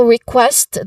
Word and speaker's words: request: Now, request, the word request, we focus on the word request in pronunciation. Explanation. Now, the stress is on the second syllable, quest.